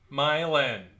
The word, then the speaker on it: Milan: out that's near us it's m-i-l-a-n m-i-l-a-n yeah like the town Milan no it's pronounced Milan my land if I can get